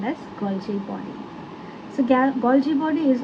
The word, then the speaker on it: Golgi: will be transported to its designated destination by Golgi apparatus.